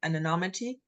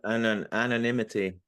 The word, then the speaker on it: anonymity: behind the an an I can't pronounce that word. Anomity. An anonymousity. An anonymity. Anonymity. Thank you.